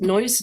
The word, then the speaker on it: Neuss: And here you see on the right side Neuss, and it's pronounced Neuss like, the sound, but spelled differently.